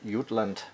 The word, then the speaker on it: Jutland: It's the Giant Mouse Ace Line Jutland, or Jutland, how in Germany we would pronounce it.